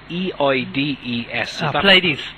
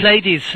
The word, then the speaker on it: Pleiades: And I'm definitely going to pronounce this one wrong, because I just know I am. What are Michael's thoughts on Plaeides? Pleiades. Pleiades? Is that what it is? Yeah, Pleiades.